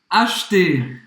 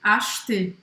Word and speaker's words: acheter: Então presta atenção porque em alguns lugares da França as pessoas vão pronunciar o E no meio. Eles vão falar acheter, tá? Mas em muitas outras regiões não vai falar esse E.